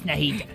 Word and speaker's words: Nahida: Yeah, without Nadia, it's Nahida. Oh, yeah, Nahida.